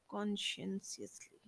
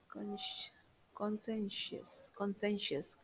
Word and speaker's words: conscientiously: pupils worked conscientiously wait conscientiously conscientiously. Let me look up for the pronunciation, then I should move ahead. uh, Consci- conscientious. No, it's not like that. Conscientiously, yes. So pupils work conscientiously together